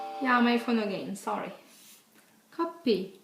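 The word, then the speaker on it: 커피: uh word coffee and how you pronounce coffee in Korean is copy okay yeah sorry it's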